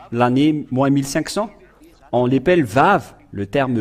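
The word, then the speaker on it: ו: Et ce que je veux en venir, c'est que vous voyez ici le terme Vav qui se prononce V.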